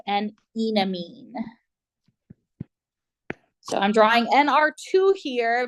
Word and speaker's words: enamine: I like calling it an enamine because it has an alkene, so I associated that with ene, like we would say hexene or something like that.